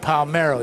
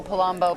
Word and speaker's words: Palmero: I've been called Palermo, Palumbo, Palmetto. I've been saying it right.